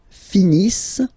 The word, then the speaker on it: finissent: Ils finissent. So remember, as usual, when we get the verbs E and T not pronounced.